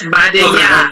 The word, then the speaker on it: Badenya: Yes, Badenya.